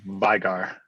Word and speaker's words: Vigar: Vigor, or how do you pronounce the last name? Vigar. Vigar, thank you.